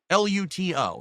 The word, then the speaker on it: Luto: And a lot of people like, "Oh, why does he say such a hard T?"